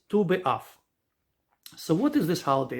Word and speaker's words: Tu B'Av: And Tes and Vav is pronounced Tu. So hence Tu B'Av.